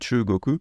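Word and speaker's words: 中国: suffit d'apprendre directement que le mot pour dire la Chine c'est shugoku et non pas de cheveux coco c'est juste que ça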